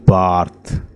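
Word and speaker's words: Barthes: Ronald है, ठीक है, ये डी साइलेंट होता है, ठीक है, जो भी नाम होता है, फ्रेंच नेम होता है उसका D silent. Ronald बार्थ, Ronald बार्थ ने कहा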